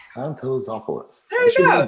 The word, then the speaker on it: Kontozopoulos: Kontozopoulos. Kontozopoulos.